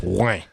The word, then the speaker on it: Rouen: I always say it's not it's Rouen. English people always say Rouen, but it's actually just Rouen. One syllable, one fell swoop. Rouen.